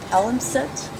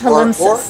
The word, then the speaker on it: palimpsest: It's one of those where the dictionary says, the other alternative pronunciation is acceptable.